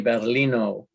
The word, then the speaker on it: Battaglino: The book is called Reflections from Both Sides of the Glass Ceiling, by Stephanie Battaglino. Yes. The G is silent.